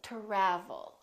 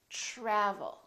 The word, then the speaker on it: travel: try try so the TR to together make this sound almost like a CHR almost like CH but it's a softer one it's t try try so let's look at some words that are spelled with TR R try travel we don't say travel or travel we say travel tradition tradition let's try